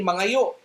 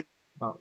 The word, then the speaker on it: maayo: You don't say mangayo. Di ba? Maayo.